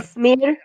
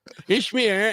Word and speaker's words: Ismir: by the way, we're talking with Oh, yeah, Ismir. Ishmir and Ismir, and yeah. You throw the H in there.